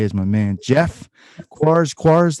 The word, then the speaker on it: Quares: Quares, that's how you pronounce it, right? Perfect.